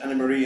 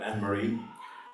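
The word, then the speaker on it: Annemarie: I just say a few words about Anne-Marie, and it's pronounced Anne-Marie in German, so I've just gotten into the habit of that. But Anne-Marie is the English version.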